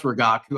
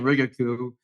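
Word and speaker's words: Rigaku: Couldn't p couldn't pronounce regaku. I was saying riaku you know every other pronunciation but regaku and and now I'm giving lectures on ramen spectroscopy.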